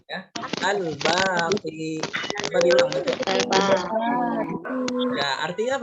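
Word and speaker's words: الباقي: Yang keempat, yang terakhir itu adalah Asmaul Husnanya Al-Baqi. Apa bacanya? Ya, Al-Baqi. Mbaknya panjang, ada alifnya. Ya, Al-Baqi.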